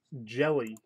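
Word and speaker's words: Hjelle: of purple I'm right his last name is pronounced jelly I had to go to his University of Kentucky page to find that out so you literally pronounce his name Shawn jelly which LCS do you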